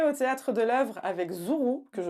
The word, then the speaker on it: Zourou: Donc tu es au Théâtre de l'Œuvre avec Zourou, que je prononce bien, Oui, très bien.